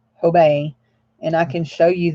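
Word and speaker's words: Hobé: and March ho Bay H OBE but it's pronounced tobei h OB e with a never in person accent mark over the e age OBE obey and I can show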